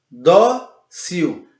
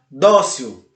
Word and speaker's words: dócil: é a penúltima, dó, dócil. Perceberam então? Dócil. Você não diz dócil, você diz dócil.